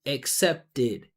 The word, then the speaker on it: accepted: So we add an extra syllable and it's it. So from accept to accepted, you say it accepted.